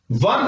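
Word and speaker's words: one: प्रारंभ हो रहा है, लेकिन फर्स्ट साउंड ऑफ प्रोनाउंसिएशन क्या है वन, वे, तो ये कॉन्सोनेंट की ध्वनि दे रहा है, इससे कॉन्सोनेंट की ध्वनि आ रही है, तो यहां पर क्या यूज करेंगे हम एफ।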